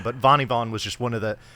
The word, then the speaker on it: vanni_van: whatever, be like, oh, hey, Vanni Van, what's up? And I'm like, actually, it's pronounced Vanni Von.